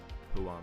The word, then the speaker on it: Huang: the token throughput, and generate the most revenue, Huang said.